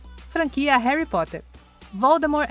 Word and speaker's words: Voldemort: Talvez Voldemort igualou tudo? Número 9. O T é silencioso. Franquia Harry Potter. Voldemort é um nome que muitos bruxos têm medo de dizer.